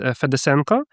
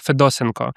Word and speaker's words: Fedosenko: my second name is Fedosenko and all my the entire my entire life teachers, my co-workers, they always pronounce it like Fedosenko, which is incorrect. It's correct Fedosenko.